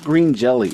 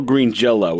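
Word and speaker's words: Green Jellÿ: And just for the record, it's not green jelly. It was never green jelly. The Y is pronounced like an O. Like an O. In their lore, there's still green Jello.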